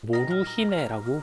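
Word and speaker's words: モルヒネ: 자, 이렇게 양귀비를 든 아이들의 사진도 남아 있는데 당시 사람들은 몰핀을 이제 몰핀이라 발음하지는 않고 일본어로 모루히네라고 불렀어요.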